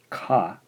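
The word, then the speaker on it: か: This first syllable here is ka, ka, so we'll romanize this as K-A in English. How do we write it in Japanese?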